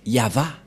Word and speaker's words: Yahvah: suite c'est V et et la prononciation de ceci c'est yava voilà la prononciation de